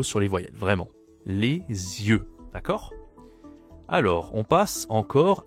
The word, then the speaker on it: yeux: Attention la prononciation. Z. Les yeux, c'est toujours e hein. Le e. E. Ah, c'est pas la même voyelle ici. Ici, on a œil e e et là e.